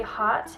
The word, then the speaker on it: Haute: it is the berry hot and it's spelled hot like h-a-u-t-e and it's a cream